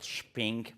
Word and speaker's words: Shping: The company is called Shping for shopping, not shipping.